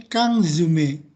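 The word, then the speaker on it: 缶詰: Oke, dibacanya ini kangzume.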